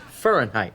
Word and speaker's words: Fahrenheit: It's pronounced Fahrenheit.